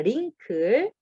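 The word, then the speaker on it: wrinkle: W가 나오죠? 묵음입니다. 링클. 그래서 주름입니다. 링클의 W인데 W가 묵음이라서 네, 주름, 링클이라고 보시면 되고 그 다음 F라고 적혀 있죠?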